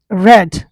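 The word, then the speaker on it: read: रेड। रीड, रेड, रेड चलता है, बट इसका फॉर्म यही रहता है, प्रोनाउंसिएशन आपका चेंज हो जाता है।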